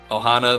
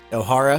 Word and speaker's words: Ohara: it could be maybe there's somebody from uh Ohana that was a uh Ohara, I'm going to Yeah, I'm going to say it wrong every time.